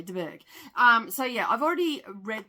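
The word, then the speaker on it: de Bourgh: And yeah, so basically, I don't know why I keep trying to pronounce that H. So anyway, DeBerg.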